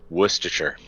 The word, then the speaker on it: Worcestershire: The way to pronounce it is Worcestershire.